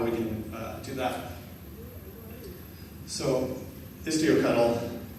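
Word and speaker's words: istioctl: So Istio Cuddle, I'm going to go with the Cuddle pronunciation like Kelsey Hightower does for kubectl.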